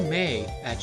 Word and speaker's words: Maya: I'm pretty sure it's pronounced Maya because it sounds like mayo. And it's spelled similarly, but instead of an O, it's an A.